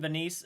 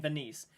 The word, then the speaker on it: Venice: A haunting in Venice. I keep saying Venice. I apologize, during the trailer reaction, I kept saying Venice. It is Venice, is how you pronounce that.